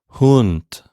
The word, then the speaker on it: Hund: the same exact thing i'm going to say hund but without vibrating my vocal chords at the end hunt okay so the difference